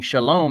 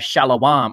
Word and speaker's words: Shalom: Similarly, they pronounce the popular greeting Shalom as Shalawam or Shalam, with regard to their salutation, one of the groups who broke away was called the House of David.